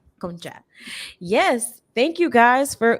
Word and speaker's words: Concha: Today, I'm here with two beautiful special guests, Sierra Lyons and Nadeska Concha. Am I pronouncing that correctly? Yes, Concha. Concha.